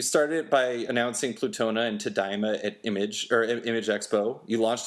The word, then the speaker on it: Tadaima: Is Tadaima the how you pronounce that? It is. I was actually impressed that you got it on your first try.